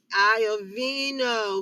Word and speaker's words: Iovino: to hear from jill give me your pronunciation of your last name one more time jill iovino aya vino who is director of